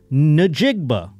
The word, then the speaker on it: Njigba: But, I mean, when I see that, I go, Njigba. I still think I'm saying something bad, but because it's a J in there. But anyway, that's how you say it.